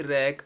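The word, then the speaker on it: wreck: डब्ल्यू आर एपी रप डब्ल्यू आरई सी की रैक answer डब्लू आर या डब्लू एस एस डब्लू में हमेशा डब्लू साइलेंट रहेगा एस डब्लू ओ RD surd डब्लू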